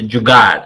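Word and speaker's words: jugaad: okay um it's very easy is the jard it's spelled j u d a d okay that's the jugad have you heard about this word before wow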